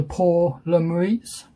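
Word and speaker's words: Pour le Mérite: kit which is the uh known as the poor lemuriates that's how you pronounce it but english terms known as the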